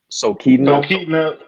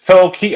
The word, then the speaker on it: Talkeetna: Talkeetna. It's Talkeetna. I think it's pronounced Talkeetna, Alaska.